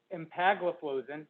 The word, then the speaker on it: empagliflozin: the sglt2 inhibitors are dipagliflozin which is farsiga empagliflozin which is uh giardians canagliflozin which is invokana